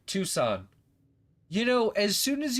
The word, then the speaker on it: Tucson: Tucson? Yeah, I was the time that I saw them come through, Tucson. Too soon? Look, you win. You win. You're right. Tucson.